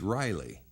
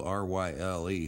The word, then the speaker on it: Ryle: I was wondering if you could help locate a book written by Maurice Riley." Now, I read that as Riley, but it's spelled R-Y-L-E, so it could be Maurice Ryle.